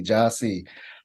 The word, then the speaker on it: Jahsee: they see it um even though it's phonetic and Ja j-a-h-s-e-e Joshy um so for the